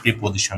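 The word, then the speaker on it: preposition: তাহলে আমাদের নিয়মটা হবে এরকম যে প্রিপজিশন পি আরই পিটি পি ও এস আই টি আই ও এন কিন্তু এর সঠিক উচ্চারণ হবে প্রেপজিশন ওকে প্রিপজিশন এর পরে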